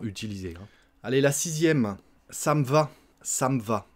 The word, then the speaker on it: ça me va: Ça me va, ça me va. On mange le E, encore une fois, ça me va.